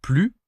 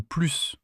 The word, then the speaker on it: plus: Tu peux dire plus ou plus. Et selon la situation, ça veut dire l'inverse. Si tu dis j'en veux plus, ça peut vouloir dire que tu en veux davantage ou que tu n'en veux plus du tout.